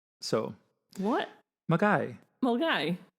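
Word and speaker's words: Milngavie: Mulgai. So What? Mulgai. Mulgai. It's spelled Milngavi.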